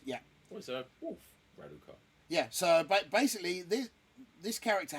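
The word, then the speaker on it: Radukar: Raduka. Yeah, it's Raduka.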